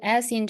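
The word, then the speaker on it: 四: you need to emphasize s s so s s in Chinese we say s i we say e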